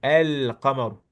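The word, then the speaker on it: القمر: le lemme, tu dis car le qaf, la lettre qaf, c'est une lettre lunaire. Donc lorsqu'on colle la lettre qaf à l'article, on doit prononcer le lemme de l'article. El-qamar.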